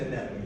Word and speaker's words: anemone: Or an anemone. It's an anemone, yeah. Anemone. Yeah, and people always pronounce that one wrong.